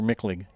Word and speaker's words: Michlig: First sitting of work for Michlig. Is that how you say it, Michlig or Micklig? Micklig. Micklig, okay.